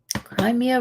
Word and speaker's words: Crimea: Crimea. Crimea river. That's how it's pronounced.